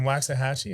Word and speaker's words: Waxahachie: were you living in waxahachie is that why your hair person is in wax i like how you say it exactly right um yeah she her